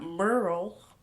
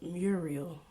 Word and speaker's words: Muriel: I'm not Merle, okay? I'm not Muriel, okay? I'm Muriel. I tell people my name is Muriel because it's easier for people to say, but it's pronounced Muriel, like with a Y, but there's no Y in my name.